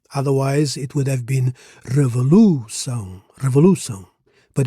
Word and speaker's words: revolução: So here, in revolução, the accent on the last syllable makes it an oxytone word, meaning the stress falls on the final syllable.